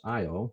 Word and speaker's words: Io: as well for example this is IO or yo depending on how you want to pronounce that if there's different camps on this question - I always the